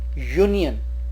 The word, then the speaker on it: union: Next word is union. Again, the pronunciation is starting as U-nion, so it's starting with U, so a union.